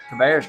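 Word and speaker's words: Cabarrus: Cabaris.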